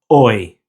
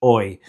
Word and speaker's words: hoy: Now the H in Spanish is always silent, so the pronunciation is hoy, without the H, hoy.